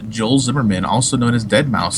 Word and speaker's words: deadmau5: wants his name pronounced well from what I've heard from other people it is dead mouse okay and I could